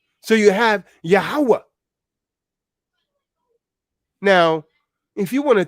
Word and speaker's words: Yahweh: They pronounce it with an ooh sound, Yahuwah. We say Yahweh.